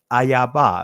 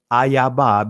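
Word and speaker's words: איבה: It says here in verse 15, and I will put enmity, ayaba. I'm saying it from the Israeli, or not the Israeli, but the ancient Hebrew pronunciation. And I will put enmity, ayaba, between thee and the woman, and between thy seed and her seed.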